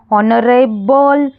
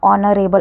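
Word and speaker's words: honourable: यहां पर एच भी आया है फिर भी एच लगा। एच तो कंसोनेंट हो जाता है। फिर इसका जो ये वर्ड का प्रोनाउंसिएशन क्या करते हैं हम? ऑनरेबल अ ऑनरेबल अ से साउंड आता है। इसलिए इसके आगे एन लगाना जरूरी है।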